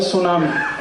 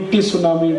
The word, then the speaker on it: tsunami: अंग्रेजी में एक शब्द है सुनामी, कैसे लिखते हैं? TSUNAMI। बोलते क्यों नहीं टी सुनामी, टी सुनामी, टी सुनामी? कहते जी टी साइलेंट है तो लगाया क्यों, हटा दो उसको।